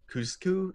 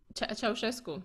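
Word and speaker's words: Ceaușescu: I mean, Romania, so that would have been I'm Cusco, am I pronouncing that? Ceausescu.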